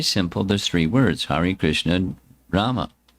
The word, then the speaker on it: Krishna: Krish there's two syllables Krishna Krishn means to attract.